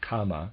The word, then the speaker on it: kama: changed into its opposite readers aside and i am pronouncing that correctly or at least not the word karma it's the word comma k-a-m-a just for clarification there